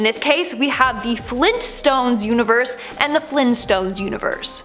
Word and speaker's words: Flintstones: No, apparently it's the Flintstones with the hard T.